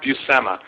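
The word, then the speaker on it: Buscema: do that a lot it's pronounced busema so that's um now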